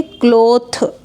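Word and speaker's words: cloth: यहां पे लास्ट में टीटीएच है तो थ रीड करेंगे यानी इसे हम पढ़ेंगे क्लॉथ ये एक नाउन है यानी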